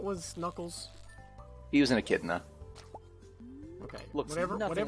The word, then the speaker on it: echidna: I thought it was like in Childa or something like that. No, it does look like that. I mean, it's entirely reasonable to try to pronounce it that way.